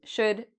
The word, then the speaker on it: should: Would, should, could. We have O and U. So afterwards, you don't need to worry about this L. It's silent. So we say would, should, could.